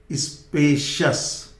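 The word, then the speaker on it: spacious: और देखिए इसको CS नहीं बोलेंगे, जब कभी भी COUS हो, IOUS, तो ये आई का प्रोनाउंसिएशन ड्रॉप हो जाता है, इसलिए ये CS नहीं होगा, शस होगा। शस, स्पेशियस।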